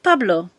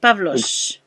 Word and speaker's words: Pavlos: Yeah, is your name Pablo or Pavlos? Pavlos. Yeah, exactly as it's spelled.